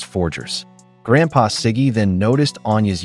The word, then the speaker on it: Forger: Still, he mispronounced it as the Borgers, prompting Barbara to gently correct him, saying it was forggers.